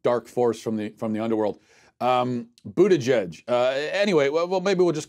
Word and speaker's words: Buttigieg: Buttigieg. Sounds like I'm summoning some sort of dark force from the underworld. Buttigieg.